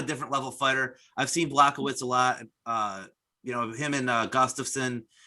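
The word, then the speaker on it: Błachowicz: Jan Blachowicz.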